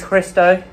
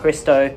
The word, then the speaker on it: Hristo: excited my name is christo everyone gets my name wrong because they're not used to names that start with hr so hri sdo christo i play drums and